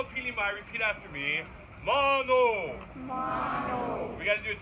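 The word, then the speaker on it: manō: so a whole opinion by repeat after me Mago we got to do it twice make sure it sticks in there mono and that my friends is how you say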